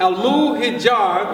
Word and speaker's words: Hijaz: And when you study the 3 terms that are used for the people, al-Hijaz, or Hijaz is the proper pronunciation, the Ansar, or the Nasara, and the